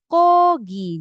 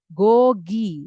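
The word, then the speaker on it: 고기: Jadi dibacanya kogi. Jadi bukan goi ya. Bukan koki bukan gogi. Tapi dibacanya kogi gitu ya. Jadi yang di depan itu jadi K, yang di belakang jadi G.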